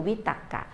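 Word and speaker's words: วิตักกะ: จริง ๆ ดิ ตรรกะ ออก เสียง จริง คือ วิ ตักกะ วิ ตักกะ เนี่ย มัน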